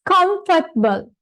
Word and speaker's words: comfortable: make a comfortable it's comfortable comfortable right comfortable comfortable right not table comfortable comfortable right it's comfortable